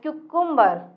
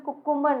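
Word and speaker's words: cucumber: क्यूकुम्बर, friends इसको mostly लोग कुकुम्बर बोलते हैं, मीन्स खीरा। इसको प्रोनाउंसिएशन में कुकुम्बर नहीं क्यूकम्बर बोला जाता है। क्या बोला जाता है, क्यूकम्बर।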